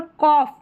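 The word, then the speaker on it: cough: यहाँ पर कॉफ, क्या है, कॉफ, OUGH, तो ऑफ करके।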